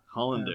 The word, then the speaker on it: Hollander: Was it Hollander or Hollanday? I'm not too sure what way he'd prefer it pronounced. I've only ever heard it as Hollander. Hollander, yeah.